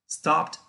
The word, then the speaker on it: stopped: Si su sonido ahora será una T, entonces este sufijo, esta terminación, sonará como una T. Entonces, stop sería presente, stopped sería pasado.